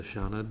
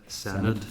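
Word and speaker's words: Senedd: renumeration board of the I keep pronouncing this wrong. This isn't the Shannid, this is the Senate.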